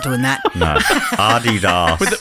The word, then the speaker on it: Adidas: Adidas. With emphasis on the first syllable. There's a whole article written about this. Right. Adidas.